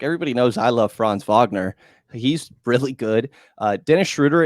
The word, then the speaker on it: Franz Wagner: Like, everybody knows I love Franz Wagner.